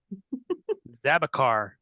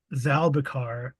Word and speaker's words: Zalar: pronounce the guy's name zabar zabar Zar it's actually has an L that's why I can't oh Zar yeah I playing zalar and he is a